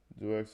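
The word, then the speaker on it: deux: Duex is French. X is silent.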